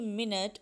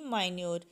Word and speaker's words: minute: Next word है MINUTE मिनट और MINUTE माइन्यूट. अब मिनट और माइन्यूट दोनों के स्पेलिंग सेम है लेकिन इनकी प्रोनाउंसिएशन मुख्तलिफ है.